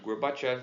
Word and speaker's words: Gorbachev: A derrocada da União Soviética ela começa a ser divulgada mundo afora durante o governo do Mikhail Gorbachev. Está escrito Gorbachev, mas se pronuncia Gorbachev.